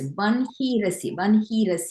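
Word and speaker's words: वह्निरसि: The second sloka, it's Vanhirasi, right? Yes. Vanhi, H-I, okay, Vanhirasi. Mm-hmm. Exactly. And that is because of the specific rule of chanting, of pronunciation in Krishna Yajurveda that prescribes that switch of the sounds.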